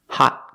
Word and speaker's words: hot: Another example of a T we pronounce with a stop T. Hot coffee.